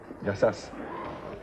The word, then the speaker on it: γεια σας: The stress is on the first syllable. It's γεια σας. It's a good start. Because otherwise, it has an entirely different meaning, you see?